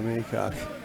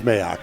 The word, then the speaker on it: Mayock: Joanna Humphrey, it's Mayock. DPC is being a Maycock. Okay, so it is Mayock.